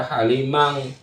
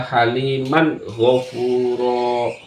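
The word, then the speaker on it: حليما غفورا: haliman gofuro haliman gofuro Awas jangan dibaca halimang halimang atau haliman itu salah yang benar adalah haliman gofuro haliman gofuro kemudian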